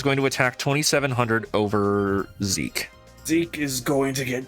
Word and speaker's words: Zeke: I think what I'm going to hop down into is we're going to summon Zeki or Zeke. How do you pronounce this one? Just Zeke. I think it's just Zeke.